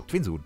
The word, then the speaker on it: Twinsun: So, Twinsun. Twinsun ist richtig ausgesprochen.